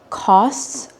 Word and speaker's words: costs: The cleanser that we will be selling costs around $40, which is pretty expensive for a cleanser. Did you notice how I pronounced COSTS?